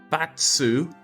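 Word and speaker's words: 罰: Net, sei, and sword is punishment, pronounced batsu when part of onyomi.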